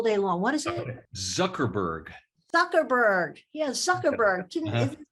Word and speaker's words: Zuckerberg: Zuckerberg.